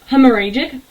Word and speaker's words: hemorrhagic: that called hemorrhoid you want to try and pronounce that one hemorrhagic okay hemorrhagic pneumonia its victims were 450 ukrainians